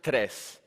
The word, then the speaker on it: Tres: Tres comes from tree, so it's the Spanish word for tree, and it's pronounced tres.